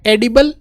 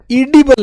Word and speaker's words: edible: अगली spelling, that which is फिट टू be eaten, खाने के लिए फिट हो, एडिबल, ईटेबल, एडिबल और एडिबल, एडिबल देखो ये AEDIBLE, एडी नहीं है, ईडिबल है, ईडिबल, उसको एडिबल बोलते, ईडी, ईडी